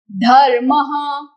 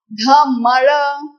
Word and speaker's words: धर्म: इसका उच्चारण मैंने इस मेथड से कैसे किया? पहले मैंने ढ का उच्चारण किया सबसे पहले क्रम में। फिर मैंने छत पर रहने वाले रेफ का उच्चारण किया। उसके बाद रेफ के नीचे म का उच्चारण किया। तो ये पैटर्न से पहला दूसरा और तीसरा अक्षर का उच्चारण होता है। धर्मः एंड नॉट धमर।